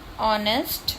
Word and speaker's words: honest: Then honest, honor, R, air. Here the silent word is H.